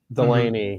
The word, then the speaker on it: Delaney: Am I pronouncing that right? Delaney, yes.